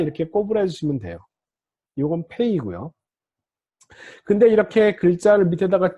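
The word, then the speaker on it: פ: 요 페이도 점이 있을 때하고 없을 때가 달라집니다. 점이 있을 때는 그냥 P, 점이 없을 때는 라인을 그어줘서 부드러운 소리다. P의 부드러운 소리가 F 발음입니다. F.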